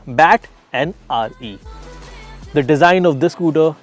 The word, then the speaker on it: BattRE: This is not actually pronounced as battery. It is actually pronounced as bat and RE.